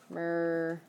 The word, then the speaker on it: mögen: So, mergen, maybe something like that, pronunciation-wise.